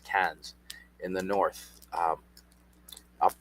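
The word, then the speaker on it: Cairns: And uh Queensland goes all the way up to Kes or Kairens it's spelled but pronounced Ks in the north um up up near Cooktown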